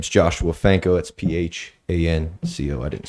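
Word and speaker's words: Phanco: for the record purposes my name is joshua fanco that's p-h-a-n-c-o i didn't spell it the first time um where do you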